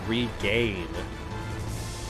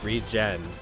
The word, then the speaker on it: Regen: Honestly, for my whole life, honestly, until a month ago when I was streaming VIII, for some reason I always called it Regain. Regen.